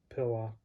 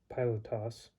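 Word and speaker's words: Πιλᾶτος: abraham dawid paulos petros pillock i must be tired that pilot toss i guess i haven't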